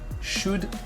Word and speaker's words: should: le mettre en rouge ne prononcez jamais ces foutus elle ok tout les ailes ici là ça ne se prononce pas le bar c'est woods should coude ok why should